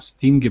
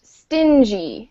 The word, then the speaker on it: stingy: spend much money a stingy person so this word is pronounced stingy so you say the g like a j sound stingy yeah so stingy